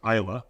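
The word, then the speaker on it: Islay: And Isla, it's spelled I-S-L-E, but it's pronounced Isla, right?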